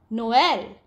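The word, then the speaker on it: Noël: you the axial tremor indicates that the wobble is to be pronounced separately from the one immediately before it which means we are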